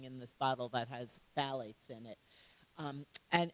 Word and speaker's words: phthalates: The PH is silent. So there's probably another language that you could say that's PH, T. Oh my God. A-L-A-T-E-S. Thank So you. say phthalates. At PHTH.